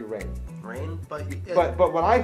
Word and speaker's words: Rahne: now the thing is he pronounced it wrong that her name is actually rain rain but but what I thought but I heard it you know cuz you dirty mispronounce it is Ronnie so I thought that